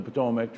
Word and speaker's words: Patawomeck: to the Patawamik name, the pronunciation right here is how it's pronounced. Nestled upon the banks of the Rappahannock River, and we're very excited about the future of the Patawomeck tribe.